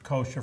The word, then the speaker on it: kosher: it out and just don't also say koser for Passover this if you want to show to and our camera SP kosher for Passover not that all star